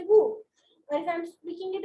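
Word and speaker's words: vous: In these two words, we use the vowel consonant rule. That is, we do not pronounce the last word if it is a consonant and the alphabet before it is a vowel. So in this case, it is the same. It is nu and woo. Nu woo, nu woo. We do not pronounce the S.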